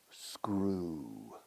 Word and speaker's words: screw: EW casi siempre se pronuncia como una U pura, una U. Grew. El pasado de dibujar, to draw, drew. Tornillo, screw.